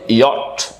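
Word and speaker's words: yacht: short অ sound এটা হচ্ছে টি sound এটা উচ্চারণটা হচ্ছে ইয়ট ইয়ট ইয়ট এটা 29 এর মধ্যে ও আছে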